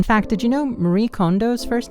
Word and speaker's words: Kondo: Same thing how people pronounce her last name like Kondo instead of Kondo, you know?